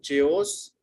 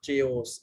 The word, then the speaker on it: chaos: हम इसको क्या बोलते हैं? chaos. It's not chaos, it's chaos.